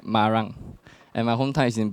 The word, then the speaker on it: Marang: It's pronounced in Malay, like Marang.